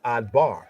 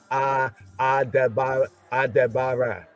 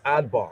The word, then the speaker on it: adbar: the southern Semitic was, they would recognize that a d a de that this word could only be adbar. You follow what I'm saying? So they would still pronounce it as adbar. They wouldn't pronounce it as a bar. They would pronounce as adbar.